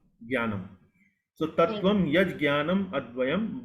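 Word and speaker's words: ज्ञानम्: Actually, this is referring to this Sanskrit syllable which typically in North India we pronounce it as Gya. But it is actually not Gya, it is Jia.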